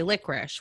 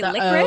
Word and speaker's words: licorice: people say the licorice some people say licorice where they kind of oh like say they say licorice wow no no i say licorice like three liters i don't make it two syllables licorice no i think i